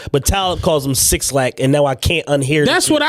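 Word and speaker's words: 6lack: It's supposed to be Black, but he's from Zone 6, so that's why the 6 is there. But Talib calls him Six Lack, and now I can't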